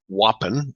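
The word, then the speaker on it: UAPN: at advertising promissory notes an acronym whoppin that's how it's pronounced you APN and the international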